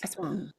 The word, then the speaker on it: Aswang: Awang. Awang. I know you want to say as wang.